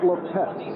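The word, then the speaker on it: Lippett: And I should point out right at the start that is now Ronnie Lepet. He has changed the pronunciation.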